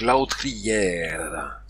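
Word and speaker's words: l'autrière: par la matinée alors la autrière a + u se prononceou ou la bascule est en train de se faire justement autour de de l'ambou le r final se prononce donc lautère le R est toujours roulé malheureusement je ne sais pas le faire j'utilise un r battu à la place an noter la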